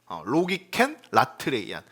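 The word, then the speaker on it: λογικὴν λατρείαν: 네, 로기켄 라트레이안이라고 읽어요. 로기켄 라트레이안.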